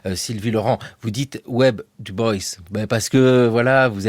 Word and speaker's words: Du Bois: Son nom s'écrit du bois, ça se prononce du boys.